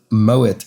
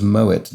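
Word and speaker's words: Moët: blank a chandel that's moet a shandong looks like in french it should be pronounced moe but in fact is moet doing due to the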